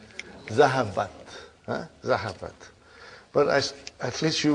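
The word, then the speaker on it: ذَهَبَتْ: How do you pronounce it? Zahabat.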